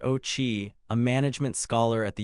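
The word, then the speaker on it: Ouchi: William Auchai, pronounced Ochi, a management scholar at the University of California, Los Angeles, has proposed a theory that combines U.S.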